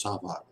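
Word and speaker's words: Samhain: Sam Hain of I can't think of any other synonyms for Halloween, but I am unsure on the correct pronunciation, but I believe it's Savan.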